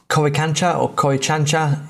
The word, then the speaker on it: Coricancha: And it's Coricancha is the rough way of pronouncing that.